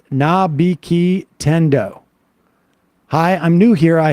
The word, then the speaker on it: Nabiki Tendo: For Sam, it's pronounced Nabiki Tendo.